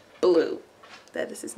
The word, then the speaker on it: Bleu: Blue. That is his name. Blue Cheese Calloway. We spell it B-L-E-U.